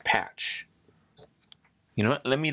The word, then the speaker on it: Pache: How to pronounce Christian Pache. Christian Patch.